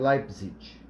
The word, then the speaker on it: Leipzig: A pronúncia, na verdade, é Leipzig, tá?